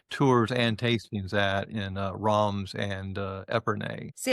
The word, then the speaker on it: Reims: my son says actually the proper way to say it is ROMs. But, you know, you got to get that French that guttural.